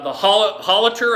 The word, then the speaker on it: Hallertau: They're both the Hallertau, I believe that's how you pronounce that.